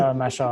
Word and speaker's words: Mashhad: Mashhad or Masad? How do you say it? What is it? Mashhad.